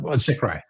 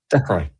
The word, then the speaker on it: Dechrai: How do you pronounce that? Dechrai. Yeah, Dechrai, because you're just Ben.